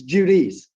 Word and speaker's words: Judice: Pearl, he does want to correct you on how to pronounce his last name, though. He's Okay, tell me, because I Judice. he's too timid to interrupt you, but he wants to give you the correct pronunciation. It's Judice.